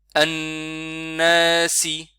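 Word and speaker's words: النَّاسِ: An-nasi. Vous voyez, nun avec shadda, on le tient un peu plus longtemps.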